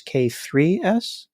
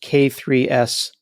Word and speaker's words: K3s: It's not K8S, it's K3S? I say K3S, or I've heard K3s.